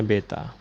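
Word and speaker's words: β: Nah, ini dibacanya beta.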